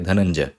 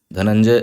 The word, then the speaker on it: धनंजय: एक नाम है धनंजय यहां पर देखिए फिर से ञ यूज कर रहे हैं क्यों क्योंकि अनुस्वार बिंदु के बाद क्या है ज है ज और उस वर्ग का अनुनासिक क्या है च छ ज झ ञ तो हम ञ इसको यूज करेंगे अनुस्वार की जगह तो धन को हम ऐसे भी लिख सकते हैं धनंजय ञ यूज करके यही चीज हमने करी